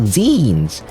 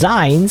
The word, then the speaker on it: zines: I have more opinions about zines. It's not pronounced, wait, yeah, it's not pronounced zines, it's zines. It's like you know, it's like when you say magazines. You take out the mega, I guess.